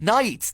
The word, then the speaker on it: Knights: I I meant Knights Knights silent k word get your mind out